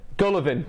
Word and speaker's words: Golovin: that's a completely mispronouncing that how do I pronounce it correctly gonna bed Golovin sorry guys Gallivan girl Levin is that right Golovin gah Levin